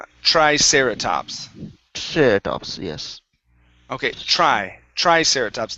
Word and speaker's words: Triceratops: back like aeratops right triceratops Triceratops Yes Okay Tric Triceratops Not sereratops Triceratops Triceratops Okay Good Uh